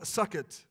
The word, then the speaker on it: Sukkot: the Feast of Tabernacles, or the Feast of Sukkot. That's not spelled S-U-C-K-I-T. It's spelled S-U-K-K-O-T, just to make sure that everybody understands what I'm saying when I say that.